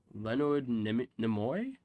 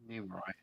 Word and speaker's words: Nimoy: Voiced by Leonard Nimoy? How do you pronounce that? Nimoy. Nimoy.